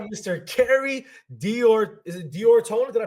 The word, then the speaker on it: D'Ortona: Is it Diorona? Did I pronounce that right? Yeah, it's Diorona. It's actually it's Italian for of Ortona.